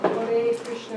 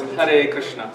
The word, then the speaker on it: Hare Krishna: and that would mean that you're saying, like, Hare Krishna, then... That's Bengali pronunciation though. Yeah, if you want to sing like a Hare Krishna mantra like a Bengali, then you'd say Hare Krishna, Hare Krishna.